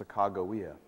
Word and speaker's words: Sacagawea: you will see that her name should be pronounced Sacagawea let me say a